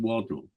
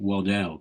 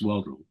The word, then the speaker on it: Waddell: I was friendly with a chap called Sid Waddle, or some people pronounced it Waddell, but it was Waddle.